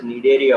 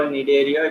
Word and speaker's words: Cnidaria: phylum otherwise called as Cnidaria also. So why we call Cnidaria? It was clearly given that the presence of nidocytes, right, or nidoblasts. So the C is silent here, right?